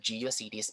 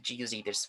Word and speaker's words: GeoCities: So let's start with GeoCities first. So this GeoCities, I don't know, Geo or Geocities. They said that the correct pronunciation of this one is Geocities, not Geocities.